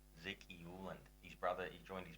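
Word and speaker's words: Uwland: How do you pronounce his surname? Zeke Euland. Zeke Euland.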